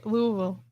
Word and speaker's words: Louisville: from Louisville oh she's from what Louisville okay Louisville wait did I just say it right you